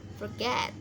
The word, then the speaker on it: forget: Contohnya ini forget, cara bacanya forget ya, penekanannya di suku kata kedua get, itu forget.